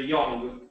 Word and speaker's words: young: they're they're very similar british is a little bit more like like an o but ours is more like a you like uh uh so the right way to say is a young young exactly next one so instead